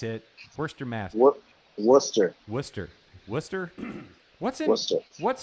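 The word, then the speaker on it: Worcester: Stern whoops that's it first your math work Wooster Wooster Wooster what's what's what's in Western I've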